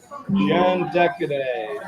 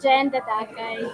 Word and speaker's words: Jen Dadacay: of our superstar students, Jen Decaday. Did I pronounce that right, Jen? It's Jen Dadacay, Joe.